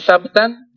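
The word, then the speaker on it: ثَبْتًا: Kalau sabtan, dia punya penelitian terhadap riwayat itu sangat baik. Dibaca huruf ba-nya dhammah, sabtan. Kalau sabatan itu sanad-sanadnya. Kalau sabtan itu orangnya. Itu beda cara bacanya. Sabtan dengan sabatan.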